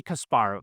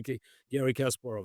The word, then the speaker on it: Kasparov: a little preparation, because rarely in America people pronounce my family name with the Russian emphasis, because in America it's always Garry Kasparov, and you said Garry Kasparov. This is very Russian.